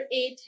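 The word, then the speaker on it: eight: जैसे नंबर 8 है, उसमें आपको पता है कि GHT आता है, लेकिन उसको जी का साउंड उसमें साइलेंट होता है।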